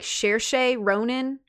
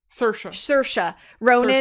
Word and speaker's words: Saoirse Ronan: So they offered it to, I don't remember how to say her name, but I think it's like Saoirse Ronan. Saoirse Ronan.